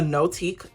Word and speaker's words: Notique: The cover is a Notique cover. That's how you pronounce it.